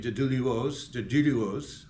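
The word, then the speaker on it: Duluoz: He also mentions the first Duluos ancestor in North America, Baron Luie Alexandro Deiak, excuse me, Dulio Dulio. I was corrected on my pronunciation.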